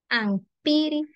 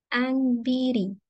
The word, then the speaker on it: ampiri: Ajla, ampiri, után. Acá se da la asimilación sonora. Para su pronunciación, entonces la forma correcta sería Anbiri. Vamos a cambiar la P por una B.